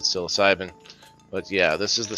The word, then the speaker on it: psilocybin: full um um yeah they do not have psilocybin or cybercillin if you're some of some people pronounce it that way not myself I pronounce it psilocybin but yeah this is